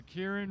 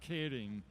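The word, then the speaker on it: Keirin: we're saying it wrong oh the yes the Kieran race is is actually pronounced kading and he knows this because well I have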